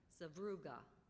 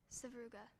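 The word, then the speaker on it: sevruga: very small Ro seuga are there any alternate pronunciations no there are not language of origin Russian could you say the word again sauga sauga s v r u g a sauga that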